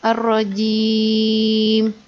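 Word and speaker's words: الرَّجِيم: Nah, kalau ini, karena dia mau berhenti, atau mau diwakofkan, kalau dalam tajwid ini disebutnya mad arid li sukun, maka boleh dibacanya 2, 4, ataupun 6 harokat. Jadi boleh ar-rajim panjang, boleh ya.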